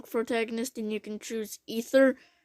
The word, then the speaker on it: Aether: and you can choose ether it's supposed to be aether but they pronounce the ether and he's the blight